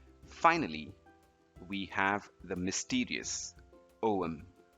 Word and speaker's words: Ogham: we have the mysterious om this is an ancient Irish alphabet and it's pronounced Owen not ogum or of him